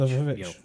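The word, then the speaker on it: The VVitch: Directed by Robert Eggers, who directed the Witch when it was spelled with two V's. Oh, Which, The Vivitch.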